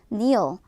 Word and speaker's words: kneel: 자, 동사 무릎을 꿇다 kneel 발음 주의해 주셔야 되고요. 자, K는 묵음이기 때문에 발음되지 않는다는 것까지 숙지해 주셔야 됩니다.